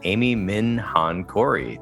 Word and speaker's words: Amy Minh Hạnh Corey: the interview welcoming on to the intentional clinician Amy Min Han Cory thank you so much for joining me thank